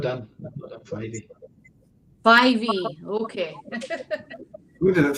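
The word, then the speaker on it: Fyvie: So it's Fivey.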